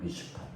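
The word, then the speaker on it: משפט: 의인, 히브리 사람들은, 이스라엘 사람들은 의를 미시파트라고 해요. 미시파트. 따라해 보시겠어요? 미시파트. 율법적인 의예요. 저 서초당 앞에 가면 얼마나 변호사, 판검사들이 많아요. 법은요, 사람은 올가매요. 얕잡았잖아요. 사정없이 올가매잖아요. 율법적인 거예요. 정의. 미슈파트예요.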